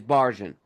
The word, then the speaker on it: Barjon: Is it barjun? How is it pronounced? And for me when I was writing his name I just went with the plain uh English version which is Baron.